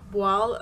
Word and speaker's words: voile: I think it's pronounced voile, as in toile.